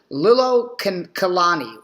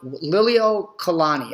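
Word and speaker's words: Liliʻuokalani: And her name, and part of my pronunciation on this, I do not speak Hawaiian, but I'll do the best I can. Her name was Queen Liliuokalani. Liliuokalani, I believe is actually how it's called.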